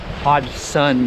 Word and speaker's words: Hodgson: the front of the mill where it says hodgson hodge sun mill water mill i've been pronouncing it wrong this whole time so right